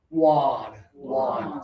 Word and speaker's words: won: So, this one is won. So, that one finger touching right here, ah ah ah. It rhymes with Juan. Or I'm sorry, rhymes with Ron. Okay? Juan and Ron rhyme.